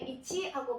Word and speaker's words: 市: 발음을 달리 하는데 우리가 저자시라고 했을 때 음으로 발음할 때는 시하고 발음을 하지만 뜻으로 발음할 때는 이치하고 발음을 합니다.